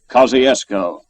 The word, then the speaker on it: Kosciusko: He spelled it one way, we another, and it's pronounced a third way. Kosciusko, Mississippi.